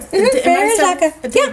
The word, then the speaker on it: Frère Jacques: Frère Jacques.